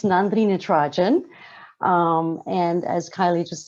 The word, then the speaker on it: Nandini Natarajan: good morning everybody um for those of you who don't know how to say my name it's nandrina trajan um and as kylie